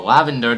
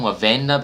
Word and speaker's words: Lavenda: member, the poisonous Lavenda, or Lavender, depends on, you know, how you pronounce it. I'm gonna call him Lavenda because that's how it's kind of pronounced out, but it is a pun off of Lavender.